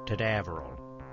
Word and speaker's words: Tadaveril: They got my name wrong again. Tadaveril. Rhymes with Canaveral.